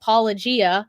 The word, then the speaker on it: Paulogia: There is a YouTube channel called Paulogia. It's like apologia, like apologetics, but his name is also Paul.